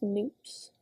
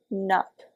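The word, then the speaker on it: nupps: pronounce it but like she spent a good 30 seconds of the 3 minute tutorial saying that it's pronounced NP like soup not nup like cup CU it's Estonian I don't know Estonian this lady seem to know estonians so I guess it's nups I kind of prefer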